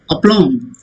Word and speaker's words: aplomb: Aplomb, with a lot of confidence. Aplomb, self aplomb, self, what you call confidence or self assurance. Aplomb. Okay, B is silent here. Aplomb. B is not pronounced.